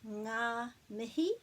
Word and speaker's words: ngā mihi: to make sure that you knew how to pronounce it and what it means. So this is ngā mihi, and you're probably familiar with that.